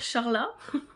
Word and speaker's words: Charla: Nash à 18 ans ça s'écrit CH a r l a donc je ne vais pas dire Charlat je trouve ça un peu bizarre donc je vais dire Carla tout simplement donc car la Nash a 18 ans et